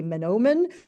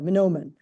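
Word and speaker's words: manoomin: pronounce the Ojibwa um it's men ohen except the first men is a little bit shorter so Momen um and easy to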